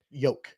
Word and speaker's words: yolk: Yolk. Like yolk, like you pronounce it Y-O-K-E.